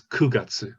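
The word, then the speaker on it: 九月: and then and then for nine we have and q if it's september it's kugatsu we use ku but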